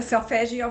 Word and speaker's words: solfeggio: Selfigo, am I saying it right? Selfugio? the solfeggio frequencies.